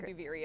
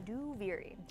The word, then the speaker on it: Duviri: We've been typing it only because we're still working remotely, so saying Duviri out loud is that's how you pronounce it, by the way. Duviri.